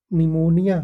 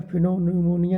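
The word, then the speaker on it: pneumonia: ठीक। निमोनिया फिनो निमोनिया नहीं P silent है।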